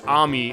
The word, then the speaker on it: Ami: Although actually with Amy, it is the same, but it's Ami, I guess because of the Japanese pronunciation.